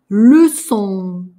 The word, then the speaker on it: leçon: Главное, что N, оно не четкое, не такое четкое, как у нас было N. Здесь его, ну так, где-то он там маячит, брежет, но не произносим.